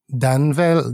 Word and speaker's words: Danvel: Your surname is Danvell, not pronounced Danvell.